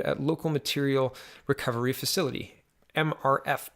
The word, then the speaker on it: MRF: local material recovery facility MRF pronounced like Smurf Smurf dumped onto conveyer belts